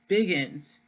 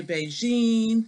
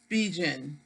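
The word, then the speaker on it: Bigen: I first showcase that I said Biggins and I heard some other people say BAE Jean so I google it and when I google it is such huh let's see pronounce how to pronounce so they're pronouncing it bijin okay but this is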